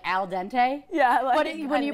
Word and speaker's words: al dente: think they meant to say it more like Al Dente yeah when you pronounce it it's Al Dente like not fully cooked pasta no that's a